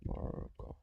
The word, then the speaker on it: Morgoth: Morgoth. Yeah, Morgoth.